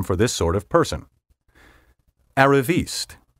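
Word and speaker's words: arriviste: another useful term for this sort of person aravist spelled a-r-r-i-v-i-s-t-e as you may have deduced from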